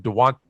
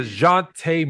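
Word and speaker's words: Dejounte: people in san antonio i always say his name wrong i call him dewant dewante de want but will you say his name right say his name right tell me it's the jonte maria de jonte murray see i want to make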